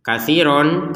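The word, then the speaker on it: كَثِيرًا: Katsiron kedudukannya sama dengan masalan. Kan ini masalan, masalah. Katsiron, katsiro. Jadi dibacanya ro. Kenapa? Karena kita berhenti.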